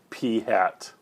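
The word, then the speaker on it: p̂: what's going on um the way that we pronounce that is p hat okay that is not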